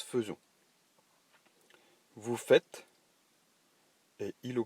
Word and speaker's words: faisons: Attention à faisons, puisqu'il s'écrit faisons, et pourtant il se prononce faisons.